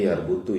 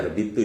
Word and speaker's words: yarbitu: Kalau kata Unik kemarin, Robato, ayah bacanya yarbutu ya, harusnya yarbitu ya.